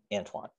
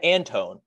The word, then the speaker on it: Antoine: antoine for whatever reason his name's quite easy to pronounce right ryan antoine straight forward on multiple games now the announcers have been like brian antone antoine i do have to